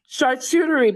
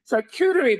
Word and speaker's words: charcuterie: Charcuterie board. I can never pronounce that word correctly. Charcuterie board.